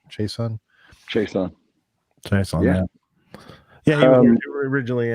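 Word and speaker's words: Chaisson: Chason.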